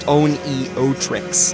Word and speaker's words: Oneohtrix: It was Zek who introduced me to OPN, then pronounced Oneohtrix, and Eric Copeland and